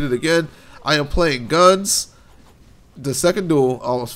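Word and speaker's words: Gunz: playing a game called guns notice I put the Z the z sound at the end of it because it's spell G and Z guns second duel PC exclusive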